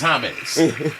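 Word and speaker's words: Jaime: Jamie Jamie hate he it's spelled like that though you known it was a name like that I would have known put the silent on my name in Spanish is hame yeah so yeah H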